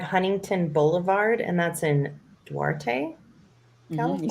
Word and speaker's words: Duarte: So 1525 Huntington Boulevard, and that's in Duarte, California.